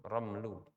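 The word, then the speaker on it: رمل: kata arramlu Ramel ya Romel itu bisa maknanya adalah pasir tapi dia mimnya sukun ramlu tapi kalau ramal dia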